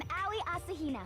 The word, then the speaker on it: Aoi Asahina: I'm Aoi Asahina.